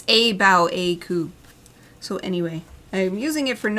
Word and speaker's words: Cabyll-Uisge: I wasn't sure how to pronounce it, and it's Cabyll-Uisge.